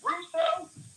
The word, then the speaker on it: Russo: Russo? Like Rene Russo? Is that how you say it?